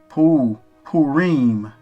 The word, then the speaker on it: Purim: So it's pronounced the same way. Purim.